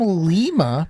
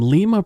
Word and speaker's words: Lima: From Lima, Peru. Yeah. Not Lima, like the people who in the United States pronounce that place. No, because that's not right. It's not Lima. They're not Lima, beans.